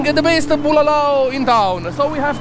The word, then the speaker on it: bulalo: So And hopefully Let's by the end of the video, Michael is gonna learn how to properly pronounce bulalo. Bulalo. Bulalao, Lao, Bulalo. Bulalao, Oh, I was saying bulao, but it's bulala.